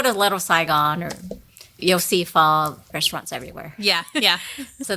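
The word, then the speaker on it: phở: So pho, it's spelled PHO, is the traditional Vietnamese noodle.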